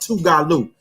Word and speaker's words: Tougaloo: It's pronounced Tougaloo.